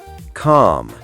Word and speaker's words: calm: Calm. Calm. Silent L. Oh, wait. We didn't cover that. There's a silent L, too. Yeah. Words like calm, palm, salmon, the L is silent.